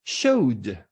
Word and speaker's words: showed: So when you add the suffix ed, it should sound as D, showed, showed.